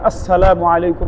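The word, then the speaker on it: السلام عليكم: যেমন আসসালামু আলাইকুম। হামজা উচ্চারণ করা, সিন উচ্চারণ করা, মিমের পেশ উচ্চারণ করা।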